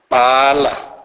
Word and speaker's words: bala: BH is pronounced as bo, bo. This is hard B sound pronounced as in English word bed. This is bilabial explosive sound, e.g. bala, bala, which means right.